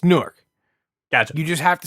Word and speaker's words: Newark: there's no crazy but you can't say newor it's it's Newark got you just have